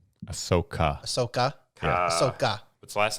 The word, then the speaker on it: Ahsoka: Ahsoka. Ahsoka.